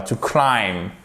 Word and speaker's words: climb: Vous ne prononcez pas le B ici, d'accord? Elle ne se prononce pas. To climb.